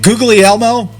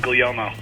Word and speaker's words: Guglielmo: Is it Guglielmo? No, it's Guglielmo. See, it's Guillermo. Guglielmo. Guglielmo. Yeah, the GL is silent.